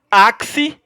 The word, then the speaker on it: axe: verbos esquece mera curiosidade não confunda axe com axé axé pessoal achei aqui ó esse axé eu achei lá do freio da bahia esse achou a ser da dança oaxi é diferente a pronúncia é diferente note que existem três